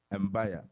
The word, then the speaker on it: Mbaya: Mbaya. Or should Why I say are you- Mbaya?